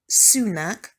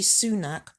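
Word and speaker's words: Sue-Nak: So I named her Sunak, which is spelled S-U-E, then a hyphen, and then N-A-K.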